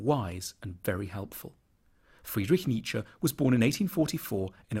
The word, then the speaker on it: Nietzsche: The first bit should sound like ni, the second like ch, Nietzsche.